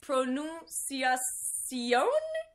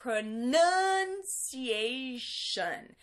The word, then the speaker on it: pronunciation: of all this one is it Pronovias Co mm maybe not maybe it's pronunciation so again stress and that tion I think you can